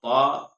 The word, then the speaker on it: ط: کو صحیح کرنا ہے۔ تا یہ نرمی سے ادا کرنا ہے، اور طا کو موٹا کرنا ہے۔ الثا، سین، شین، صاد،